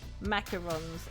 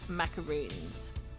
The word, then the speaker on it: macarons: All culinary tastes are valid, but you will not tolerate anyone who pronounces macarons as macaroons.